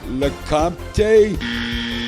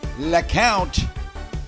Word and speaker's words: Lecompte: Pronounce this word. Uh, LaMante. No, sorry. Try again. Uh, Lemp. No, but if you said Lount, you'd be correct.